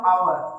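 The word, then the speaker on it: hour: मतलब होता है घंटे, आवर में एच साइलेंट होता है और ये आवर को हम लोग ऐसे लिखते हैं। अब कहने को तो ये एच से स्टार्ट है, लेकिन इसको हम लोग पढ़ते हैं तो आवर से बोलते हैं, और जब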